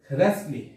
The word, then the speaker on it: wrestle: এখানেও কিন্তু ডাব্লিউ অক্ষরটির উচ্চারণ হয়নি। রেঞ্জ। এরপর হচ্ছে রেসলি।